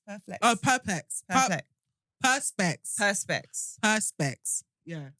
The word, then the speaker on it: Perspex: Perplex? Perplex. Oh, perplex. Perplex. Perspex.